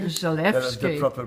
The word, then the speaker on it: Zalewski: the pleasure of meeting Pawel Daniel you say Zalewski. Zalewski. That's the proper pronunciation.